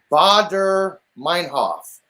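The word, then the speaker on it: Baader-Meinhof: what you asked what what was it it's pronounced um badr meinhof here i'll put in a public chat for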